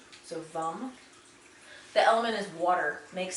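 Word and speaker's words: वं: the sound force is vum vum and it's pronounced it's spelled v-a-m but the a frequently in sanskrit is pronounced like a u so vum the element is water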